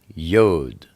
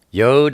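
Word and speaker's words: י: Next, we have Yod. Yod is the number 10. It's pronounced Y, like Yahweh or Yah. Or sometimes it's pronounced like E, like easy.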